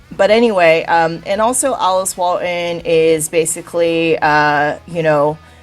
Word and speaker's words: Alice Walton: more about this yeah the Alice Walton school of medicine pronounced awesome she is building a